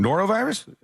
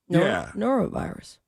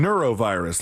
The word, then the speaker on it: norovirus: where my brain goes are you saying it right what what am I saying wrong norovirus norovirus well you were saying neuro virus like like like neuro like in the brain o r o neuro